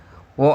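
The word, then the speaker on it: を: Wo atau o nanti dibacanya wo atau o ya.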